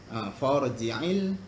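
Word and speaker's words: فَارْجِعِ: Farji'il basara. For tebal ya, bukan far.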